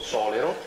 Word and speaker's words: Solero: volta l'ha detto giusto, Solero. I complimenti perché nel 99,9% dei casi in Italia tutti dicono Solero, quindi lei ha fatto molto meglio della media. L'accento è sulla O, non sulla EMA, è normale.